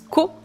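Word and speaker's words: 子: Et pour ceux qui connaissent déjà le deuxième candy, hein, c'est le candji de l'enfant qui normalement se prononce co mais en vérité ce candi de l'enfant on le retrouve dans plein plein de mots différents.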